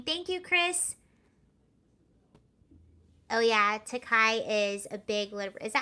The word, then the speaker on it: Takei: Okay, pretty sure it's Takei.